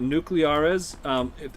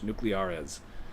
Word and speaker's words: Nucleares: Look up Nuclearis. Mar, look in the title of my stream. It's spelled. It's the word nuclear, but in Spanish. Nuclearis. There you go.